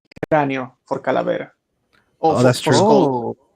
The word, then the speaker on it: Calavera: Calavera. Yes. That is how it is pronounced.